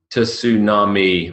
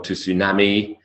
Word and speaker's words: tsunami: Tsunami has one suppressed T.